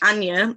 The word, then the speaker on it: Anya: I'm full on Yorkshire from the UK, but no, we say it like Anya, but honey and all like they all say like Anya, and they say it funny.